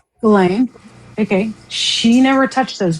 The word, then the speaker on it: Ghislaine: Does anybody remember, and I can never pronounce her name right, Gillian Maxwell, right? Ghislaine, yeah. Ghislaine.